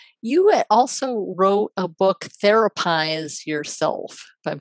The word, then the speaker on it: Therapize: Now, you also wrote a book, Therapize Yourself. If I'm pronouncing that right, Yeah, therapize.